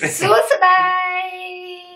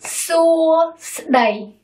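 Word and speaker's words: សួស្តី: Hi in Cambodian is longer than in English. Suosadai. Three syllables. Suosadai.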